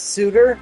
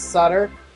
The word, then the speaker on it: Sutter: Oh, it's Suditor, not Sutter. My bad. I've been saying it wrong all along.